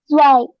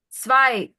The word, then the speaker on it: zwei: How do you pronounce it? Zwei. Zwei.